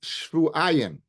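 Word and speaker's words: שבעים: We pronounce it shvu'ayim. Shvu'ayim means 2 weeks. But it's written shivim. So if you go after the way it's pronounced, yeshem lemikra, she's going to be tummy for 14 days. If you go after the way it's written, she's only be tummy for 7 days.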